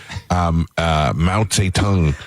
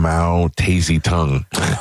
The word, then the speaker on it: Mao Zedong: So when I grew up, I was pronouncing all these names wrong. Mao Zedong. Oh. She would call him Mao Tazy Tongue.